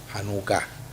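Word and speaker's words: Janucá: esta semana se celebró hanuka el acento en la anuca ya que es para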